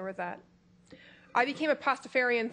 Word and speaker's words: Pastafarian: I became a Pastafarian 3 years ago. Would you spell that? Sure. It is P-A-S-T-A-F-A-R. Literally like pasta with like Farian pasta.